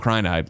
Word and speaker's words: Crynide: I think it's Crynide, like cyanide.